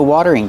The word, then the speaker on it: watering: This is a watering can. Pronunciation, watering. The T is a fast D. Water, water. Then use the voiced R. Together, watering.